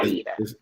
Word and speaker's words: Aida: I'm saying it wrong. I keep saying Ada. Yeah, Aida. It's like Aisha, but with the D.